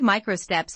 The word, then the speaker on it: micro steps: The word micro steps has three syllables. Stress on me.